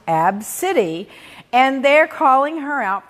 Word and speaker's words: Abcde: name a name and the kids name was spelled ABCDE pronounced AB City and they're calling her